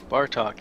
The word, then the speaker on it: Bartok: Bartok. Bartok, as in bar talk.